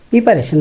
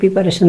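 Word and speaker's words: preparation: প্রিপারেশন নাও ভালো করে। যদি এটা প্রিপারেশন না বলে প্রেপারেশন বলি তাহলে একটু ভালো হয়, যদি সম্ভব হয়।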